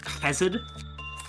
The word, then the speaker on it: Chesed: And yes, I know, Chuck, that, Chesed is pronounced Chesed, but I kinda don't want to make that sound with my mouth right now because it causes me to cough.